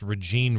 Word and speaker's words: Rejeane: Her name is Regine, as John mentioned, pronounced Regine Redmond, it's kind of unusual spelling, Rejeane.